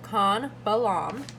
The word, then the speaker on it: Chan Balam: Yep, King Khan Balam, with special excitement as he was carried to the foot of a pyramid.